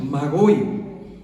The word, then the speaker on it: Magoi: medo-persa llamado los Magoi, así como se escribe y lo escucha, Magoi.